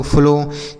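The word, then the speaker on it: flow: तो ओ W last में अगर रहेगा तो हम ओ की मात्रा पढ़ते हैं। ठीक है? ये सब चीजें हमने बता रखी है पीछे की वीडियोस में। यहां पर तो हम आपको शब्दों को पढ़ना बता रहे हैं ना। वहां पर हमने नियम से बताया है कि ओ डब्ल्यू रहे तो ओ की मात्रा पढ़ते हैं।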